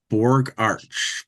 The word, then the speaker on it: Bogacs: an Austrian, yeah, so it's an Austrian my both my names are Austrian, so it's the Austrian Okay. pronunciation. Gotcha. Borg Arch.